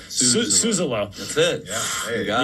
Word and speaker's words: Suzzallo: And now I'm super self-conscious about saying the name wrong. Suzzallo.